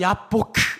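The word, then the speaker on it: יַבֹּק: 야복이 히브리어로 야보크 이런 뜻입니다. 이렇게 발음해야 됩니다.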